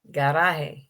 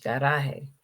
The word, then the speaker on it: garaje: And garage. garaje, Yeah, garage, garaje, yeah.